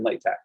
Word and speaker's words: LaTeX: of quick pronunciation things latex latex latex all are fine the one key thing to remember is that that is a hard x sound uh x as in chi uh and not uh